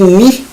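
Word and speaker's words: μ: exemplo temos valor de mi letra grega que que é um v mas se escreve se pronuncia com m de navio e i de e ele é um valor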